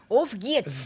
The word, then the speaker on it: Auf geht's: Auf geht's. Nigga said Ufgyat.